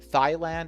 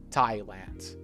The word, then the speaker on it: Thailand: not Hindi and India Thailand yes that's right that's right Thailand it looks like th but here we ignore the rules. So it's not Thailand, it's Thailand with a strong clear th sound.